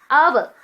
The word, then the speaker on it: hour: Hour, H is silent, so that I have added an here.